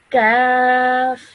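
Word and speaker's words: ك: is this over here, some some students might pronounce these both the same, but we need to now realize that both of these are pronounced differently. This over here is a thick sounding letter. This is a thin sounding letter. So this would be said as qaf, and this would be said as kaf.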